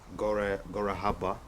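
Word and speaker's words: Gore Habba: there's a festival it's called um gor Gaba that's the pronunciation but you have like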